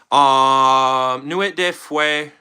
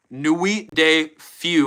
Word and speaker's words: Nuit de Feu: Nuit de Feu, or Nuit de Feu, I believe is how you say it.